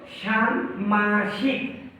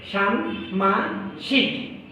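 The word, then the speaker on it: ষাণ্মাসিক: আকার দন্তস রস্বইকার ক, এই শব্দটির উচ্চারণ অনেকেই ভুল করে থাকে। এই শব্দটির শুদ্ধ উচ্চারণ হলো ষান্মাসিক। তালবস্য আকার দন্তন হসন্ত ম আকার তালবস্য রস্বইকার ক হসন্ত, এটা শুদ্ধ উচ্চারণ হবে ষান্মাসিক।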